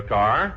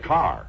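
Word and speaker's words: Kerr: isn't it yes but in england it's pronounced car oh just like here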